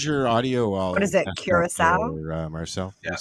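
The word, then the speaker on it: Curaçao: was because i was running the uh the pronunciation thing oh yeah karako sounds better just saying that listen when i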